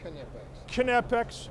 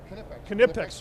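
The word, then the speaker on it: Knipex: pronounce the cas the the Germans pronounce the k absolutely so it's always kex kex but your organiz ation how do you pronounce your company's name kex kex I'm sorry okay let's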